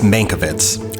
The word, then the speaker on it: Mankiewicz: I still can't pronounce that name, Mr. Kane. It's Mankiewicz, Herman J.